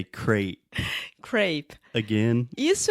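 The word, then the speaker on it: crêpe: And in English? Crap. So you just said crap, which is like I a know. kind of nice word for shit. So we say crate.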